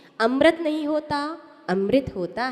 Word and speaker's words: अमृत: कहां गया तो क्या बोलोगे अमृत क्या बोलोगे अमृत सही प्रोनाउंस में सही उच्चारण यही है ध्यान रखो